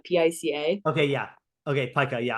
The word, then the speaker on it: pica: It's called pica, P-I-C-A. Okay, yeah. Okay, pica. Yeah, I only know that because I associate with Pikachu, but it's spelled differently and it's pronounced differently.